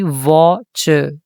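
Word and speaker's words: watch: evening evening evening I वॉच वॉच T silent होगा यहां पर टीवी टीवी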